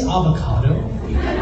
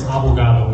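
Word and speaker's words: abogado: says and she says did he say avocado no no it's abugado which means attorney and that is sort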